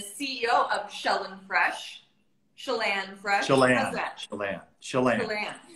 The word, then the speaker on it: Chelan: So, Chelan comes from Lake Chelan, and it's pronounced Chelan. It's not Chelan. It's not Chilean. It's Chelan. Okay. Chelan. Like Shell and Chelan.